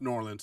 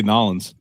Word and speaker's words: New Orleans: and and it's pronounced New Orleans. So, um anyway, unless unless you're down there, they say say Norins. Oh, Norins. Okay. Sorry. Um, they kind of combine it, dude.